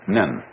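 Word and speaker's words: 忍: very interesting sign this it's pronounced in Japanese nin and the top part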